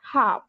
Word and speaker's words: half: इसके अलावा एल का मौजूद है हमारे पास, whenever l comes before after a, so we do not pronounce l, for example calm and half।